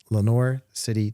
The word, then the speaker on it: Lenoir City: husband clay have six children and reside in Lenoir City Tennessee did I say Lenoir City right okay